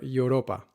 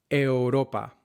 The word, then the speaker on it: Europa: Euro, Europa, are not pronounced euro or Europa, but euro, Europa.